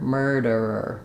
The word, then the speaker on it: murderer: stop of air murderer so this is the most challenging part going from R to R again you can keep your tongue in that tight position and just drop a little ER murderer murderer I do have